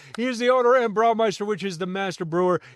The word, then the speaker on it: Braumeister: He is the owner and Braumeister, which is the master brewer here at Buffalo Creek Brewing.